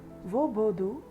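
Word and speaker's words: hvor: In Danish we can ask the question like vodu. Vu. Where is the question word here. So in Danish we can pronounce where. The word can be translated as vo. H v o r. war.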